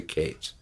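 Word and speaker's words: Katz: name Matthew Cates it's spelled k-a-t-z but he pronounced the case on the first L airplane album he managed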